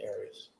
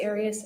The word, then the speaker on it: Arias: of this trial areas is there another way of pronouncing any of you always pronounce it Aries I've heard it pronounced about seven different ways I say Aries as does the rest of my family well let's back up